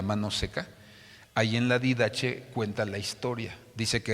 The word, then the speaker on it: Didache: Hay un libro que usted puede bajar en el internet que se llama La Didache, así se escribe, Didache.